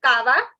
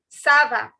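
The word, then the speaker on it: ça va: not car okay please please don't make this error of saying kava it is not kava it is sava so i'll repeat again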